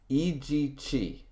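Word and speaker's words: Ijichi: Ichi, Eg Chi. It seems like it'd be not that many syllables, but it's Eg Chi.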